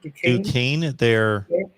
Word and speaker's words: Duquesne: Duquesne. It's pronounced Duquesne.